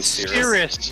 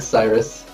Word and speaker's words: Cyrus: i saying you're saying seriously you're saying sirius xm my bad cyrus it's not serious it's cyrus oh there you go